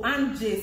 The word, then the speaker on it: Anje: Anji, I call you Anji. Anji. Aji Anje. Oh, Anje, Seth, not Anji.